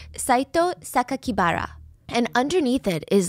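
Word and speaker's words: 酒鬼薔薇: for Saito Sakakibara, and instead of pronouncing the way that he intended, the killer intended, because the kanji could mean other words, they stated to the public that the killer's name was Saito Onibara, which would be a more common surname.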